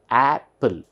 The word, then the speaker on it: apple: then we have pull Apple so though there are two P's here in phonetics it is just Apple so it's this per